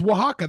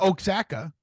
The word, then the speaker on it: Oaxaca: Sure, it's Oaxaca. That's how you say it, not Oaxaca.